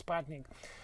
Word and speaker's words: Sputnik: actually, when I first Sputnik, if you pronounce it in a more correct way, really? but it's a standard way in the English language people pronounce Sputnik.